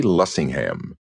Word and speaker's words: Lessingham: penned Falstaff with nobody else in mind but Sidney J. Lessingham. And no accent on the ham, please.